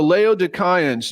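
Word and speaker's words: Laodicean: the Le leoan epistle now I know everybody's saying no no Joel It's Leo Dean yeah but in the Greek it's Leo Cen and I think that sounds way more cool all right let's go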